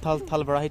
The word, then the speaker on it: Tal Barahi: Is it called Talbarahi temple in Nepali? Am I pronouncing right? Yes.